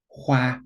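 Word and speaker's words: 花: Zi, again, on the top you have the meaning, on the bottom you have the sound. Hua, which is flower, hua.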